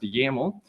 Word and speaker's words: YAML: yaml right here the yml extension is pronounced yaml and this test.